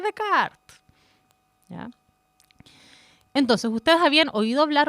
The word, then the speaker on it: Descartes: sabe o Descartes bueno de Kart no se dice Descartes se dice de Card Entonces ustedes habían oído